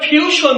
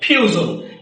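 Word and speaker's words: fusion: উচ্চারণটা হবে ভিজন এভাবে আবার দেখো যেটাকে আমরা ফিউশন বলি এই উচ্চারণটা হবে ফিউজন কারণ কি এখানে এস আই ও এন এর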